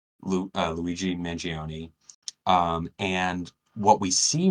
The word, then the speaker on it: Luigi Mangione: Um, we have just we're in the very beginning of this news story, this thing that happened, which is Luigi Mangione. Am I pronouncing it right?